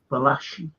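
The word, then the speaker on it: Valachi: great film yeah it's true story about vachi vashi that's how you pronounce his name Deon I've always taught two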